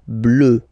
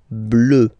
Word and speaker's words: bleu: foncé, okay, next, here, when you combine this E and U, you get the sound E, E, so quite deep, hein? E, okay, bleu, bleu, bleu, and then marine, marine,